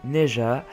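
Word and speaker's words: Ne Zha: vous pouvez le voir c'est neja oui ça se prononce comme ça alors on sait pas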